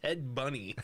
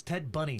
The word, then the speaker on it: Ted Bundy: Ted Bunny. Ted Bunny. We didn't We're not mispronouncing Ted Bundy. No, it's Ted Bundy.